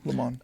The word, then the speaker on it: Le Monde: The Atlantic, The Texas Tribune, Gannett, Washington Monthly, Le Monde, is that how you say it? Yeah, Le Monde.